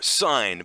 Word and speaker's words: sine: one for names but why don't we call it something like i don't know sign but but very confusingly spell it like sin the english word for you know all the good things in life that sounds like a